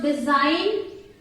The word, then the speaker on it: design: So design. Design. Here G is silent.